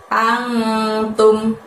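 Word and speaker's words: أنتم: Lalu setelah itu ada lafadz antum. Ang, pada saat mengucapkan antum tadi angnya disamarkan ya dan ditahan 2 harokat.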